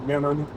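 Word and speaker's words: Minturn: through Mentor mini turn would be the name you would read if you saw that spelling but the way it's pronounced is Menon I got on the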